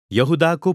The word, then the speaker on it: यहूदा: यहुदाको पत्र। ग्रीक र हिब्रू भाषा अनुसार यहुदा नै यसको सठिक उच्चारण हो।